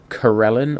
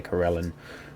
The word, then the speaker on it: Corellon: of all that is the god Corellon, or Corellon, however you want to pronounce it. I say Corellon, who is known as the Archheart, or the Arkheart.